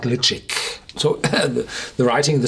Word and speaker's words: Ledaig: it here but the natives of the Isle of mul where the toari uh Distillery is call their whiskey liic I'm not no native